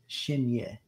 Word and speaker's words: Chenier: Just pronounce it. Chenier. But it's like you know when you go yay, Chenier. But it's spelled CHENIER, and that's going to be linked.